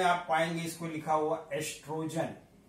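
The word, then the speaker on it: oestrogen: कुछ बुक्स में आप पाएंगे इसको लिखा हुआ एस्ट्रोजन। तो बोथ आर सेम, यहां पर ओ साइलेंट है तो एस्ट्रोजन ही बोलते हैं, ओ से कहीं लिखा रहता है कहीं ओगी से, सो डोंट बी कंफ्यूज्ड।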